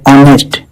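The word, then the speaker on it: honest: अनिष्ट में H silent होता है, इसके उच्चारण होता है ऑनेस्ट, यानी ये वावल साउंड से शुरू होता है और वावल साउंड से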